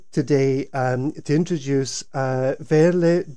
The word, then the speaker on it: Veerle: um to introduce uh verlet the berm did i get your name right verley yeah yeah i'm always a bit